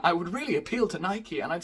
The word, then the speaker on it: Nike: Nike is a Greek goddess, which is pronounced Nike, so why are we letting Greek people decide what the English flag is?